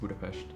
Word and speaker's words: Budapest: of people know that that budapest is actually pronounced budapest the food the food